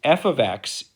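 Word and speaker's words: f(x): previous problem that we just had um is f ofx = 7x now this is actually really important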